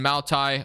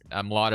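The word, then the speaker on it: Mailata: Landon Dickerson, and then Maltai, or Malata. Malata is how you say it, actually.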